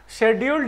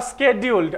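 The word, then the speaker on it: scheduled: Will be शेड्यूल्ड एज, शेड्यूल्ड या स्केड्यूल्ड, आप दोनों में से कुछ भी पढ़ सकते हो, प्रोनाउंसिएशन आपके मन के ऊपर है, शेड्यूल्ड भी और स्केड्यूल्ड भी।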